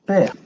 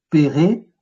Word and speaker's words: pr: Ça va s'écrire PR, mais quand on va le lire, on va dire père. D'accord? On ne va pas dire et père, on ne va pas mettre le E muet avant et entre les consonnes. On ne va pas dire et près non plus, ou près.